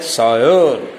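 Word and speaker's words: sire: Look सायर, इट is pronounced as सायर.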